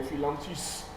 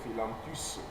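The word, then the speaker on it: Phyllanthus: Alors, c'est ça qu'on appelle les philanthus.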